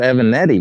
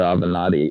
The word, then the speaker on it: Avenatti: how they all pronounce we all pronounce it evanetti we never pronounced the avenatti and that's probably yeah